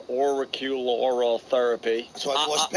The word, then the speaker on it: auricular: It's a therapy you can't even pronounce. Auricular therapy. So I was auricular.